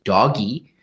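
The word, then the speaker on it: DOGE: This is a bizarre defund the Wall Street police gambit by Elon Musk and the so-called Department of Government Efficiency, which I pronounce as doggy, because it is not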